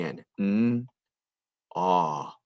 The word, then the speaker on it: gnaw: right before the end we don't hear the k we only hear the n not night